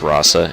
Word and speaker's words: Rosa: name but my god i always pronounced it rosa but apparently it's rasa in this game they gotta go for the alternate spelling or the ultimate pronunciation and god look at